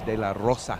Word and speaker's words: de la Rosa: be part of this it's de la rosa you got to roll your r's gringos can't do it veronica i can't i